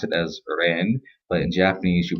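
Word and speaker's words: 人: in the slide means person and Chinese you pronounce it as Rand but in Japanese you pronounce it as hito um although there sounds completely different same um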